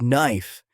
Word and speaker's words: knife: For example, the word knife has a silent K.